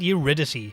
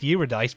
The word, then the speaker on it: Eurydice: such as orpheus and eurydice which i think is sometimes pronounced eurodice but michael gambin pronounces it as the former and so do i despite the fact i'm